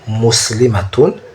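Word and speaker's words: مُسْلِمَةٌ: Au singulier, on dit muslimatun, une musulmane, ça c'est au singulier. Muslimatun, une musulmane. Et le mala est bref, matun, muslimatun. Le ma est bref, tandis qu'au pluriel, on dit muslimatun.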